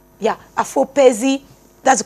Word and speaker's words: Afopezi: But at the same time, I'm going to try with the pronunciation. It is Afopezi. Afopezi. Yeah, Afopezi.